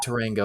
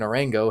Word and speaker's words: Orango: one drummer orango no not Tango that's not even how my last name's pronounced anyway uh drummer orango has announced his exit